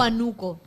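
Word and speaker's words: Huánuco: Ah, de Huanuco, ¿verdad? De Hanuco o de Hanuco en realidad, porque lleva tilde en la A de Huano.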